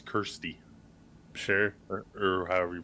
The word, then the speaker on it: Kirsty: So, like, Homegirl, uh, I want to say it's Christy, but it's not. It's Kirsty.